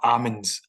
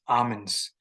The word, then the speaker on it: almond: okay so these are almonds almonds the L the L is shh styling okay so the L is silent so almond nuts I